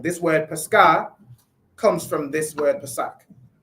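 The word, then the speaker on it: πάσχα: Read the pronunciation. It's pronounced what? Pascha, right? Pascha, right?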